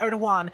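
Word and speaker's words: Erdoğan: Sorry, I should pronounce his name correctly. Erdogan is literally like from some other planet at this point.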